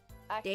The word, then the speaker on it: Achtung: It's like German. Like you pronounce it like Acton.